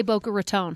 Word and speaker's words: Boca Raton: This is how the locals say it. And they say Boca Raton.